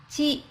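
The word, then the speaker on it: ち: Instead of reading T like other letters, it reads Chi, like the word cheese.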